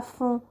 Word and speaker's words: fond: demande de respirer à fond, on ne prononce pas la lettre D, pour me remplir les poumons d'iode.